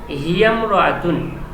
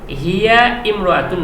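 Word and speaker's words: هي امرأة: এই যে আলিফটা আছে এই আলিফটি শুধু লেখায় আসে, উচ্চারণে আসে না। যেমন হিয়ামরাতুন, হিয়ামরাতুন এটা শিখে রাখতে হবে, হিয়া ইমরাতুন নয়, তখন বলতে হবে হিয়ামরাতুন, হিয়ামরাতুন।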